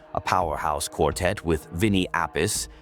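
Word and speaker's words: Appice: He formed the band Daringer, a powerhouse quartet with Vinnie Appis, pronounced RP Chay, on drums.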